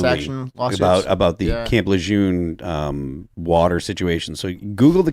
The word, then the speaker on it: Lejeune: He is one of the many affected by the water at Camp How do you pronounce it? Lejeune.